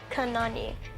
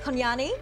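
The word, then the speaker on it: kunanyi: Kanani. It's pronounced Konyani.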